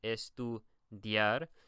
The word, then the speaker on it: estudiar: Whenever we use those words, right, we have an I and an A, estudiar, and so we pronounce the I as if it were a Y, okay?